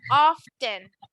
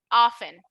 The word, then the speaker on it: often: quieren ver muy propios, pueden decirla así tal cual, often. Pero, ya lo habíamos discutido antes, les encanta tragarse letras en el inglés. Entonces, van a escuchar muy seguido que lo pronuncien como si no existiera la T. Y entonces sería algo como often.